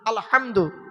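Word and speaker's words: الْحَمْدُ: আলহামদু এ গলার ভেতর থেকে এটা উচ্চারণ করবেন।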